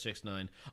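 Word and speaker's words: 6ix9ine: 6:9 on his face x69 whatever it's actually pronounced just six nine I will not lie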